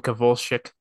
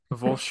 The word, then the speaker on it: Kowalczyk: It's Sebastian Kowalczyk. Kowalskish, yeah. Kowalczyk.